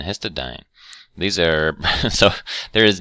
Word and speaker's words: histidine: INE, these all have INE on the end, but they're actually pronounced different. This is lysine, and this is arginine and histidine.